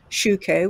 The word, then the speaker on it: Schueco: website to go to which is www dot shuko which is spelled s-c-h-u-e-c-o dot com forward letter i n